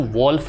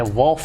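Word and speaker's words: wolf: कभी भी वॉवेल जो है उसके बाद में एल आता है तो वो एल जो है साइलेंट रहता है। ठीक है, जो एल जो है वो साइलेंट है। वॉफ इसको पढ़ेंगे, keep the वॉफ from the door.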